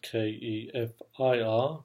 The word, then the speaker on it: kefir: talk about transforming your gut with keffiyeh spelled ke f ir but pronounced kefir so what is keffiyeh well it's